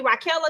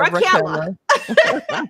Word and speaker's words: Raquella: What you say her name is? Ashley Raquella? Because I've been calling her Raquel like a man. She gonna be Raquel. rock sooner or later. Yeah, Raquella.